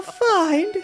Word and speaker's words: fiend: It sounds like you're supposed to pronounce it like feet. Are you serious? Are you serious right now, or are you guys really into feet? You pronounce it fend? Like fender? Fend? Fiend? Fiend? Fiend? Like I got a fee, and then I ended with an ND?